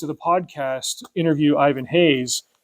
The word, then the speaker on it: Reis: He's Brazilian, so it's written Ivan Reis, but I think it's pronounced either Hayes or Hayes. The small language lesson here: in Brazilian Portuguese, maybe even regular Portuguese, if a word starts with the letter R, it makes an H sound.